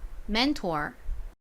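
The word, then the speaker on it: mentor: 나는 t 끝이 중요해요 끝부분은 or이 옵니다 or 발음이납니다이 단어에서 자 따라해 보세요 맨투어 좋습니다 지우고 써볼까요 안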